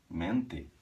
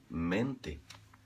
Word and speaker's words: mente: Se uma palavra acaba com TE e é átona, essa sílaba, a gente faz soar ti também, lembra? Eu comentei com vocês. Mente. Mente. Mi mente. Se o brasileiro não se cuida, ele faz esse E soar I, esse T vai soar um CH,